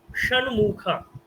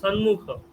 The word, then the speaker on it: ষণ্মুখ: করবেন, তখন আপনার শ্লোকটাও ষণ্মুখা। আপনি যদি সন্মুখ, সন্মুখ বললে হবে না, বলতে হবে ষণ্মুখ, ষণ্মুখ, ষট, ষষ্ঠ, ষষ্ঠ,